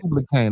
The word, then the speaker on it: Tubal Cain: So Tubal Cain, not Tubal Cain. I said Tubal. Oh, it's pronounced Tubal Cain, not Tubal Cain.